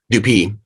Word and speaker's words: Dupee: We also mentioned so Bellpine, Jory, and I may not pronounce this correctly. Is it Dupee or Dupee? Dupee.